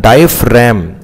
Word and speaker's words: diaphragm: ध्यान, डायफ्रैम, आर ए जी एम, इसको रैम बोलते हैं, डायफ्रैम, डी आई ए पी एच, डायफ आर ए जी एम, रैम, डायफ्रैम, इस डार्क एरिया को बोलते हैं डायफ्रैम.